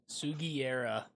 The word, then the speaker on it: Sugiura: Sugiera. There we go. I always say his name wrong.